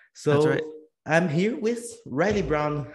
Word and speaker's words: Reilly Brown: So I'm here with Reilly Brown. How are you, man? Good. Great to be here. Thanks a Did I lot. pronunciate your name in the right way? Yeah, that's it. Riley Brown.